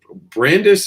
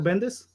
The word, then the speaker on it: Bendis: i mean we just saw brian uh uh brandis is that how you say it brian michael bendis thank you thank you sorry yeah bendis thank